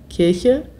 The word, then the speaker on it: Kirche: Zoe Welsh fragt, wie ausgesprochen die Kirche versus die Kirsche? Kirche, Kirsche, Kirche, Kirsche.